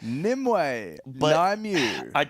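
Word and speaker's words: Nymue: this one I like nimway I kind of think nimway is cool no no no cuz the only way is the method way the method way Nim way nimu I get a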